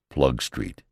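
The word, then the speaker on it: Ploegsteert: Emitters is called Armatiers, Balliol, Balliol, Hazebrook, Hazybrook, and what more natural than Plug Street, Atkins for Plugustra.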